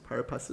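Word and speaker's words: pari passu: all shares are par parisu if there was a liw in the room that would help me it would be so great how do you pronounce parisu parasu par parasu again parasu parasu thank you I don't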